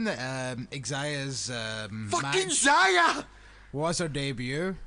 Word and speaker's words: Xia: So Mercedes Martinez versus Xia Li. Zaya. Xia. Zaya. Xia. No, it's Zaya. Her name starts with an X, not a Z. It does. It's pronounced Zaya. Xia Li. Like xylophone.